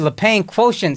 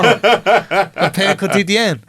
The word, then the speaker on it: Le Pain Quotidien: I've been calling that shit Le Pen quotient, son. I ain't know. Le Pain Quotidien.